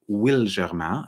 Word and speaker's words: Wilgermain: new to me and it's called will germa and i have it on good authority because i have it on the authority of the brand founder that um that is how we're meant to pronounce the name it's it's a putting together of williamsburg and sangerman because those are two places that are very important to the founder the founder being